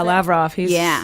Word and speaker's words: Lavrov: about having dinner with Russian Foreign Minister Sergei Lavrov. Is that how you pronounce it? Yeah, Lavrov.